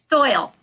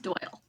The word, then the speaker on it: Doyel: it pronounced doyle or doyel doyle doyle okay so i did get it right the first time we spell it a little funny it's spelled phonetically but it's still pronounced doyle okay and our our